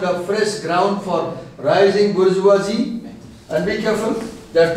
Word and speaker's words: bourgeois: the Cape opened a fresh ground for rising bourgeoisie. And be careful, there are two words, B-O-U-R-G-E-O-I-S, we pronounce as bourgeois.